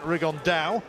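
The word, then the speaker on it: Rigondeaux: That's coming up in about 3 weeks, and Tete's talked about fighting Rigondo, or as he's correctly pronounced with the Spanish accent, Rigondao.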